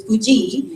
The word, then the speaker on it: Pudji: So my name is spelled Pudji, so it's Puji. Yeah. But for the new spelling, it's just Pugi.